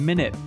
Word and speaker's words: Minit: you have played minute yeah which is spelled mi nit yeah not meant but minute